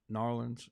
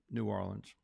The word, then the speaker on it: New Orleans: A lot of people that I've talked to, they say, "Is it pronounced Narlands?" And I didn't hear that very much in New Orleans. What I heard was like I say it, which is New Orleans.